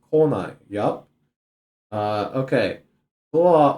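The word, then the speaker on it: 来ない: If you're using kanji, note that the reading of the come kanji changes so that the verb is pronounced konai.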